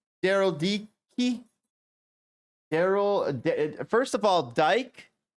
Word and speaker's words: Dike: is another word for lesbian his name is pronounced Dicky d e he he Daryl DK Daryl D key Daryl first of all Dyke is uh Dyke